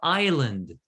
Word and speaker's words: island: what so that we we don't pronounce the s bingo okay excellent so